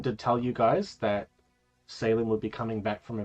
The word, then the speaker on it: Salem: How do you pronounce it? Salem.